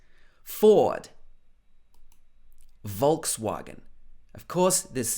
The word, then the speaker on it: Volkswagen: a british accent ford volkswagen of course this w in german would be more like a v it would be something like volkswagen but in the uk we would probably say volkswagen volkswagen next is mercedes-benz